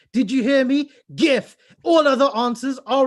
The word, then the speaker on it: GIF: Right from Canada, all the way in Canada, it's the lady who and who knows how you pronounce GIF. And that's GIF, everyone. GIF. Did you hear me? GIF.